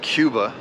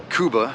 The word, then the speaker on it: Cuba: we are in Kuba I've been pronouncing it Cuba but they said Kuba anyway uh stayed here